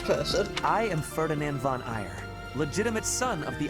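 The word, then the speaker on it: Aegir: person a posh person i am ferdinand von ire legitimate son of the ire family that's how you pronounce us i thought it was pronounced like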